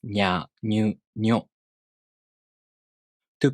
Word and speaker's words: nyu: To pronounce Nyo, the tongue moves from the ni consonant to the o vowel. Nyo. If you have trouble pronouncing Nya Nyu Nyo in this way,